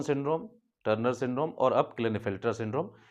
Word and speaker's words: Klinefelter: Turner syndrome और अब clean filter syndrome clean filter syndrome को बहुत से लोग लाइन फिल्टर सिंड्रोम भी कहते हैं के साइलेंट करते हैं तो आपको जैसा सुविधाजनक लगे आप बोल सकते हैं ठीक है तो दिस